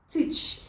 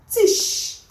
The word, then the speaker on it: teach: CH as s h let's look at this other one is teach right teach so when the mistake some of us are making is we call it Tish instead of teach teach